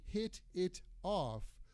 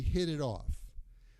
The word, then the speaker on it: hit it off: The T at the end of the word hit and the T at the end of the word it sound like a D.